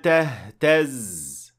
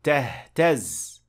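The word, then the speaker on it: تهتز: فَلَمَّا رَآهَا تَهْتَزْ. So we say تَهْتَزْ, not فَلَمَّا رَآهَا تَهْتَزْ. That is not correct. The stress is on the last part of the word.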